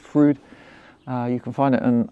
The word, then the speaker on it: Fryd: And that's what's led me to work with app developers who are from Germany, actually, who've created this app, spelt Frieden, pronounced Frood.